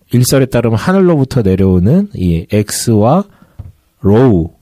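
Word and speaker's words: Ρ: 문자 헬라어로는 이제 카이와 로우라고 발음하는데 우리가 이제 크리스마스를 엑스마스라고 하잖아요. 그 X가 크라이스트를 발음하는 X자거든요. 그래서 그 X와 어 그리고 P는 P가 아니라 그 알파벳은 P처럼 보이지만 로우라고 발음하거든요.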